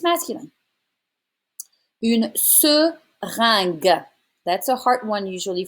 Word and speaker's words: seringue: It's all straight flat sounds. And you're going to say une seringue. It's un sound. And then because you have the U after the G, it's a hard G sound.